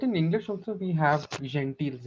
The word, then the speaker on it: gentil: time when you put GENTILE, it will become gentile. You don't say gentiles, right? Gentil, yes. So Yeah. here in French, you will find this is GE is pronounced je also, right?